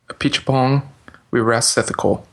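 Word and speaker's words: Apichatpong Weerasethakul: I've seen two other movies by this director which is uh which I now know how to pronounce. A peach pong. We rest ethical is his name.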